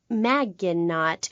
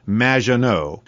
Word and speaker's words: Maginot: have mispronounced my name it's which rhymes with badge uh as in duh and no as in more than you maginot anyway thank you for